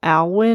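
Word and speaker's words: Olwyn: So, it's probably alin. I'm going to spell it O L W Y N, which is Welsh for wheel, which was incredibly freaky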